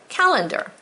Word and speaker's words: calendar: In my brain, I had to say calendar, even though we say calendar, because it sounds like an E-R, but it's not.